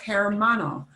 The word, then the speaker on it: hermano: And you gotta force yourself to not pronounce an H, right? No hermano, right?